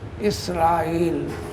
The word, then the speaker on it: إسرائيل: اعتبار سے تلفظ اسرائیل۔ اردو داں اور عرب طبقہ حمزہ کے زیر کے ساتھ پڑھتے ہیں اسرائیل، اسرائیل۔ حضرت یعقوب لقب